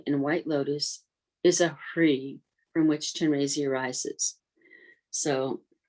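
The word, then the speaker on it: Hrih: It's H-R-I-H, has a little aspiration to it. Hri, you almost breathe through it.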